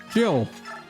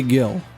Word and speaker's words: Jill: Jill. It's Jill or it could be Gil because there's a J. And it could be pronounced Gil. But it's very likely Jill.